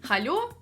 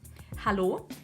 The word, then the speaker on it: hallo: In the end, they get something like "halo", "luft", "lampe" and "muelleimer". This is a good try, but also wrong. We only need to soften the "L" itself. And we should get the following words: hallo, Lampe.